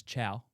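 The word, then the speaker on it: Thiaw: The manager, who his name's Chow, and he's not an Asian. It's just how you pronounce his African name.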